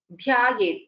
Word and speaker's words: ध्यायेत्: And when we are pronouncing the Samyuktakshara, like for example in the case of Dhyaye, there is a dhakara and there is a yakara. Dha, mahaprana dha and yakara, both should be heard clearly.